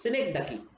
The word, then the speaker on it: synecdoche: Next figure of speech, which is very simple, and I hope you people all have heard its name is synecdoche. What, sir? Synecdoche. Synecdoche. I will spell it for you people.